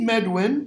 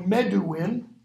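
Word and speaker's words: Medwyn: They meet Medwin, or Meduin. He's pronounced one of those two ways.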